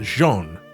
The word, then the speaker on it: Jeanne: and for the record, this is pronounced Jeanne. I get people pronouncing this wrong all the time on Final Fantasy XIV. It's French, you uncultured swines.